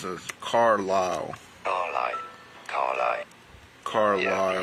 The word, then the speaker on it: Carlisle: Carlisle. Yeah, the S is silent, as in an isle. Isle, essentially. Carlisle.